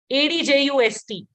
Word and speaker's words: adjust: So the D is actually silent.